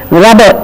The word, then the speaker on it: rubber: And look at these two words, please: rubber and ribbon. R-U-B-B-E-R, R-I-B-B-O-N. But we are not showing the double B here. We are showing only rubber, a single B. So rubber and ribbon are wrong pronunciations.